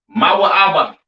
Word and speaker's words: Moab: have Moab all right Moab pronounced ma ABA all right the children